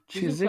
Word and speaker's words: Chiswick: So is this pronounced Chiswick or Chiswick? Because it says Chiswick, but is the W silent? Chiswick.